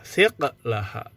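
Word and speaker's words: ثقلها: Jadi dibacanya di sini adalah siqlaha. Kalau dalam kamus juga boleh dibaca siqlaha. Tapi di sini katakan bahwa membacanya dengan qafnya disukun.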